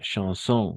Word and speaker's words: chansons: Chanson, no, no, chansons, no. Chanson, incluso al plural va a ser chanson. Dans, no dans, ma chambre.